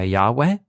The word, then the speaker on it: Yahweh: out all the evidence for why Yahweh is the most original form of the pronunciation one is in this